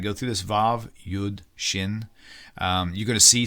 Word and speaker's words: shin: some some things like you'll have a letter shin and a letter sin uh which are basic or Sheen sinen however it's however different people pronounce it looks like a letter